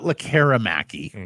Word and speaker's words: Lekkerimäki: Ignore the E. Yeah, it is not Lekkerimaki.